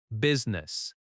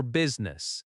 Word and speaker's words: business: The I in the middle is not strongly pronounced. B U S ness. The stress is on the first syllable. I'm here for business.